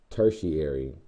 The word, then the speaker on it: tertiary: or a tertiary consumer a third order or tertiary that's how you pronounce it tertiary consumer uh again